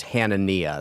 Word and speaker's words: Hanania: hanania I always uh I had a friend with the same last name and it was pronounced hanania so that's what Hannah